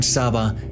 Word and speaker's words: Sabah: the lands of Eastern Sabah to the sultan okay so the pronunciation is Saba of Sulu these are